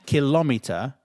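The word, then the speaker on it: kilometre: It's not kilometer, it's kilo kilometer.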